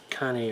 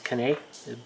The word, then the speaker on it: Cannae: on the Battle of Cannae, or Cannae, I think that's Cannae, I believe is how it's pronounced.